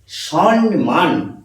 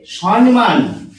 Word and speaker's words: সম্মান: যাবে না অনেক উচ্চ পদস্থ মানুষ শিক্ষিত মানুষ উচ্চারণ করেন সন্নমান এই এটি উচ্চারণ করছেন সম্মান কিন্তু এখানে যেটি